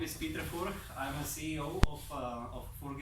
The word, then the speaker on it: Furch: So you pronounce Furch. We pronounced Furch. That's right. And in Czech is right. Furch. And in the English territories you pronounce Furch. I've heard Furch. I've heard in Germany Furch, in Japan Furchi, and maybe some other options out there.